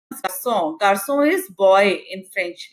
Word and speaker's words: garçon: in French language, but when it is C with a vowel and you have to pronounce C as sir, then you have to use a cadile below C. So cadile converts the sound into song. So instead of garçon, gacon, it becomes garçon.